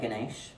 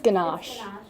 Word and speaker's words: ganache: matters um things like Ganesh anyone who speaks French I'm terribly sorry for that pronunciation I think it's ganache good not yeah um ganache